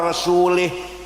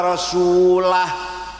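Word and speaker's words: رسوله: Wa annallaha bari'um minal musyrikin wa rasulih. Allah tidak melindungi orang musyrik dan tidak melindungi Rasulullah. Salah. Bacanya harus wa annallaha bari'um minal musyrikin wa rasulah. Wa rasulah dan wa rasulih.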